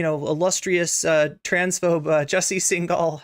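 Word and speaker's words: Singal: illustrious uh transphobe Jesse single sorry single I believe is how it's pronounced um has a podcast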